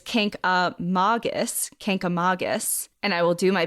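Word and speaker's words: Kancamagus: grown up in New Hampshire and we say Canam Mangus this is wrong officially officially it's Kus Kus and I will do my best to pronounce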